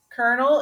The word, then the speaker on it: colonel: how you spell it kernel is c-o-l-n sorry no back up c-o-l-o-n-e-l so what does kernel